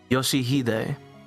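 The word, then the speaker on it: 良秀: No, that's not how you read those letters. Yoshihide. That's how you say it.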